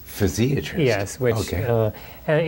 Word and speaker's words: physiatrist: physiatrist so actually I've been taught the correct pronunciation is physiatrist physiatrist yes which uh and it's basically a you